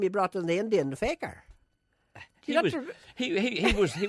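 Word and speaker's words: fakir: I mean a faker you spell it f a k i r I suppose you'd call it Faker but we don't say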